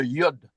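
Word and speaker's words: יוד: Elle se prononce. Y comme y.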